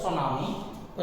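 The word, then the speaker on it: tsunami: सुनामी next प्राकृतिक का सुनामी चकि जापानी शब्द है सुनामी इसमें टी आइंट है सुनामी की स्पंग को याद रखिएगा इसमें साइलेंट है सुनामी में जापानी लर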